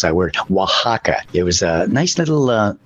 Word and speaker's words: Oaxaca: Yet Oaxaca, it took me forever to figure out how to pronounce that word. Oaxaca.